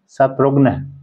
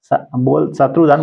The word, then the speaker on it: शत्रुघ्न: क्या नाम है उसका, शत्रुघ्न, शत्रुधन बोलते हैं, शत्रुधन बोलते हैं ना, शत्रुधन तो नाम अशुद्ध है, लेकिन नाम है शत्रुघ्न, है ना। गलत होता है उच्चारण, लेकिन शब्द नाम है शत्रुघ्न, हाँ शत्रुघ्न।